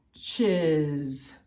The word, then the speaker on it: watches: But remember, I've got that wonky W, and it can make a short A sound like a short short O. So here it is. Watches.